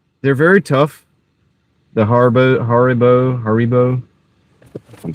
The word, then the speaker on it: Haribo: You don't like the Harbos either? Yeah, they're really They're very tough. The Harbo Haribo.